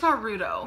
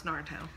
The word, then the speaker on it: Naruto: a lot of scarves got rid of them Naruto Naruto she likes Naruto no it's Naruto narut Naruto narut yes what was that better